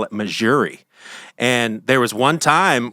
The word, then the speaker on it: Missouri: from she was like why are you saying Missouri I was like cuz that's how you say it right she's like no it's Missouri but I used to